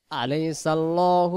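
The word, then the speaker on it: أليس الله: হাকিমিন আলাইসাল্ আলাইসাল্ আলাইসাল্ উচ্চারণ হবে এখানে আল্লাহ শব্দ এই ডানদিকে এই যে জবরটা থাকার কারণে এইখানে জবরটা তৈয়ার করেন আল্লাহ শব্দে এই লাম অক্ষরটাকে লাম জবর ল ধরে পড়তে হয় আলাইসাল্লাহু বি আহকামিল বিহ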